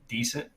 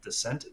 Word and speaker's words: Decent: right now it's uh it's spelled decent uh i think it's pronounced descent d-e-c-e-n-t and i don't